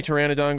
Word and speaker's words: pteranodon: Why can't you hear a pteranodon going to the bathroom because the pee is silent?